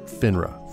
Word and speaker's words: FINRA: financial industry regulatory authority or finra for short which is how i'm going to pronounce it from here on out